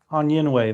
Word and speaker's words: Onyenwere: Year, Myisha I meant to ask you the pronunciation on this on Onyenwere? Onyenwere? Onyen- Onyenwere, there we go.